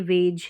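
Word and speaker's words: wage: और यहां पर यह वेज है क्या है वेज डब्लू के बाद में ए है फिर जी कॉन्सोनेंट ई यहां पर साइलेंट है वेज वेज का मतलब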